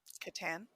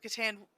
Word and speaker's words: Catan: But I feel like if I had been in Massachusetts at the time, I would have pronounced it Catan, because that's like you think aunt versus aunt.